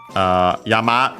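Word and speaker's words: 山: The category is Yama no Pokemon. So yeah, Yama is already mentioned. Mountain. Accent on the last more, so in this case actually becomes an accent because of the following possessive particle.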